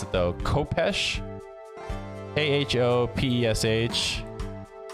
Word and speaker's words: khopesh: K-H-O-P-E-S-H. Let me check out the pronunciation. It's just Khopesh.